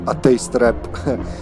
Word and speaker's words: Atheist Rap: You might, but, you know, it's like properly spelled on their records, Atheist Rap. Only it's pronounced in Serbian, even though it's spelled in English.